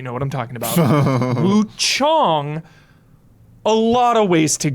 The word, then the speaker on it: Wuchang: Sorry, Wukong. Wu Chong. I'll be I'll pronunciate so you know what I'm talking about. Woo Chong.